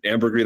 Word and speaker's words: ambergris: And he goes, "Ambergris, that's a real word. That's not." And I was like, "Yeah, that's a real word." It's sometimes pronounced ambergris, but yeah, it's a word.